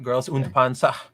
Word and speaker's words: Girls und Panzer: Girls und Panzer.